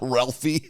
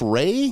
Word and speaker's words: Ralph: his name it's not raly no it's spelled like Ralph is that what it is and it's pronounced Ray Ray fines I thought